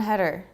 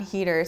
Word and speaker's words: Heder: saying his name and they said Jon header Jon header Jon header and I was like I'm pretty sure it's Jon Heder so then I looked up an interview and they pronounced that Jon Heder so I'm gonna go with that yeah sorry if I'm